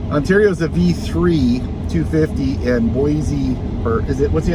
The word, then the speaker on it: Boise: Ontario's a V3 250, and Boise, or is it, what's the other way, Michael? Boise or Boise. Boise is what the locals say, Michael says, after doing some research.